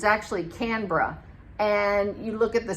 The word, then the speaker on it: Canberra: Like Canberra, that it looks like it's spelled Canberra, the capital city, but it's actually Canberra.